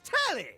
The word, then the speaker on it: Telly: The name's Telly. Telly. Rhymes with Nelly. Like, whoa, Nelly!